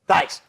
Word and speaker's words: Theis: Daniel Thias? Theis? Theis.